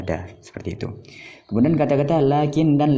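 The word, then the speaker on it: لكن: Setelah lam, ketika pengucapan seperti ada alif, lakin, itu juga lakinna. Tetapi penulisannya itu tidak ada alif, lakinna, tidak ada alif di depan lam.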